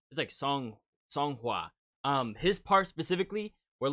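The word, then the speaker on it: Seonghwa: So whenever I'm having being frustrated, not knowing how to pronounce their names. Hey, I'm going to have it right there, but it's Song Hua. So it's like Song Hua.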